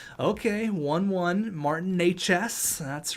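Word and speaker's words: Martin Nečas: Martin Natchez. That's right. That's how you pronounce his name for everyone wondering.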